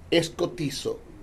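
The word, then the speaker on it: σκοτίζω: Que con su derivado escotizo, que se escribe S-K-O-T-I-Z-O, en su significado, este es el término oscurecido, sin luz.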